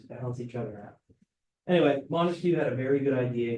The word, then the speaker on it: Montesquieu: So Montesquieu, right? So Montesquieu, 3 syllables here, 3-branch system.